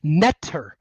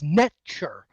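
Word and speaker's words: nṯr: But if you actually pronounce the word in Egyptian, it's netcher, which is very close to nature.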